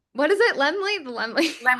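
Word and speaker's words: Laemmle: Liam Royale Theater. I think I did it wrong. What is it? Lenley. The Lemley.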